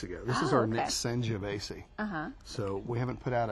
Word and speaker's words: Sangiovese: Okay, so this, now pronounce it for me again. Sangiovese. Sangiovese.